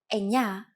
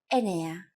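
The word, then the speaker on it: εννέα: Sometimes, though, especially in casual conversation, Greeks also use efta instead of epta, ochto instead of okto, and ennia instead of enea.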